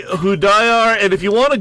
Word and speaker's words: Hudayar: Salih Hudayar, and if you want to Google search his name, he's with the East Turkestan National Awakening Movement.